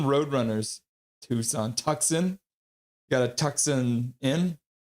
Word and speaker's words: Tucson: It's pronounced Tucson Roadrunners. Tucson.